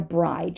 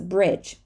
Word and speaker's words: bridge: not always right so this is not a bridege it's a bridge so you see it doesn't always work but it does some of the time so this is a bridge and we're not going to say the e at the end of a word we're not going to say Bridget right so this is the